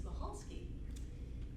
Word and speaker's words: Michalski: pronounce his last name there's a c in it and so the c is silent it's michalski and so michalski